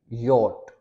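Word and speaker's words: Jot: फिर जे है, जे को हम यहाँ पे पढ़ेंगे योट।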